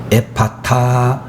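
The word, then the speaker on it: ἐφφαθά: 이에 바다라고 는 말은 헬라어 원어 에 발음으로 이야기를 나게 되면 에 파타 라고 하는 그런 발음으로 되어 지는데 어 그 의미란 열려라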